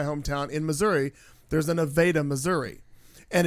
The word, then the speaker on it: Nevada: in Missouri, there's a Nevada, Missouri. And it's always been Nevada, Nevada, though it's spelled different.